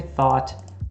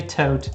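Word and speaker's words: Thoth: Some people say thought, some people say tote. I don't actually know what is considered to be the most correct. Athena and tote.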